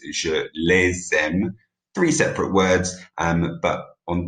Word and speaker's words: les aime: Je les aime. Remember, we pronounce that S on that occasion.